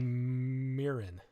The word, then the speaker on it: Mirren: his name is jeffrey mirren mirren yeah like the rice like like japanese rice wine mirin m-i-r-r-e-n oh had